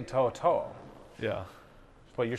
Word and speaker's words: To'oTo'o: do you say your last name just generally Toto so I have like three middle names Moses it yes are my middle names so they don't but they say Toto yeah but you're saying Toto I I I